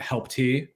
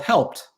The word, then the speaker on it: Helpt: see it spelled h e l PT and pronounce it help te but to get out there that it's just called helped I smile ear to ear gotcha um now